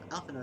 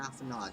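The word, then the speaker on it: Alphinaud: I keep forgetting, in English is it Alphino or Alphinod? Do they pronounce that last B? And when it gets transliterated from Japanese, basically Alfino. D is silent in English.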